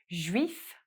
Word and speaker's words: juif: Juif for Jewish, f sound at the end, because F is one of the consonants that's pronounced at the end of words in French.